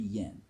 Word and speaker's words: yen: Next step down from that is the 10 cent, okay, or the 10 yen, which they don't pronounce the Y. It's N. 10 yen, all right.